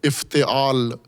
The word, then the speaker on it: افتعال: سانچوں میں سے ایک سانچے کا نام ہے افتعال۔ افتعال، الف فے تے عین الف لام، افتعال، اس کو تلفظ، سانچے کا نام ہے افتعال۔ اس میں